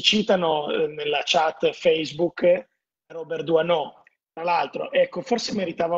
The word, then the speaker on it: Doisneau: dalle risate perché no, si pronuncia Doisneau, Doisneau, non è Doisneau, è pure più difficile da dire Doisneau.